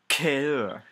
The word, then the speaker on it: cœur: It's pronounced cœur.